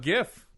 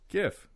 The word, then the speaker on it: GIF: interface file it's wrong I'm going with the hard G gif I know it's hard